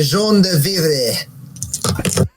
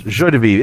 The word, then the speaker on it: joie de vivre: And I am attempting to use my jaune de vivre. Ah, yeah, those words. Yes. I've tried to pronounce that correctly. Yes. Joie de vivre.